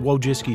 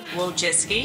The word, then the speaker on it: Wojcicki: But Susan Wojcicki should really stick to what she does best, which is fucking ruining YouTube, I guess.